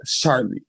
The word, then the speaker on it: Charli: It rhymes with Barley. Come on now, y'all. That's common sense who it was. Charli.